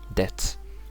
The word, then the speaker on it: debt: But the first one here, everyone has a mistake of saying debt or debt, but it's only D-E-T, debt. Sounds like debt.